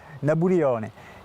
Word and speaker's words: Nabulione: Napoléon, pas dû l'entendre très souvent, et lui le prononce façon insulaire, Nabulione.